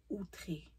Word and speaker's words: Outré: Après ça, vous avez la marque Outré ou Autre. Moi, je dis Autre parce que les anglophones disent Outré, parce que quand il y a le E, mais le accent aigu, mais moi, je dis Autre.